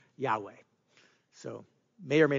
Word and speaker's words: Yahweh: And so because of the modern vowel markings and the ancient consonants, we get the pronunciation Yahweh.